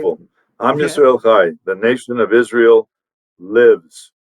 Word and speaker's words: Yisrael Chai: Yisrael Chai.